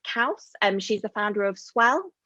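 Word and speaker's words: Kauss: And I'd also just listened to a podcast with Sarah, I think you pronounce it Kaus.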